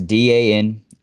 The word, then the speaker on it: Danica: Danica, or Dinica, how you want to pronounce this name? It's Danica. I imagine it's Danica, but I could be wrong.